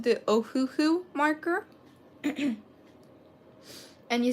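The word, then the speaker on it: Ohuhu: you using besides copics it is called the ohooo marker and you spell it as o h u h u like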